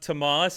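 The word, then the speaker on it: Tomales: it's pronounced Tamales.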